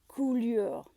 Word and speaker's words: coulure: Grenache is really susceptible to what the French call coulure. Coulure is spelled C-O-U-L-U-R-E, coulure, and that means poor fruit set.